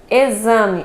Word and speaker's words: exame: os cinco fonemas ok exame Mesmo não tendo o som de x é o som de z e aqui na pronúncia